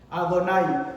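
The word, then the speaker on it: יהוה: Y cada vez que una persona ve en los rezos este nombre, Yud Ke Vav Ke, ¿cómo lo pronuncia? Adonai.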